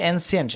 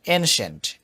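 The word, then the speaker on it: ancient: এনসিয়েন্ট না, উচ্চারণটা হবে এনশেন্ট।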